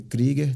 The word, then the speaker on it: Kruger: uma folia estrita de kriger se escreve Kruger mas se pronuncia kriger tem que ser acima